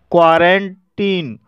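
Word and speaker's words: quarantine: क्वारंटीन, क्वारंटीन शब्द में आई का उच्चारण आई ना होकर के ई हुआ है, इसलिए इसे क्वारंटीन पढ़ा जाता है।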